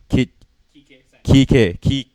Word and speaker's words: Kike: I can't pronounce it. But Flores. Uh-huh. They rehire Sanchez Flores. Kike. Oh, okay. I was about to say Quiche, to be honest.